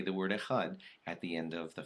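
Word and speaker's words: אחד: that's just clearly enunciated don't press it too hard so it doesn't sound like a tee but just say a HUD and that's kind of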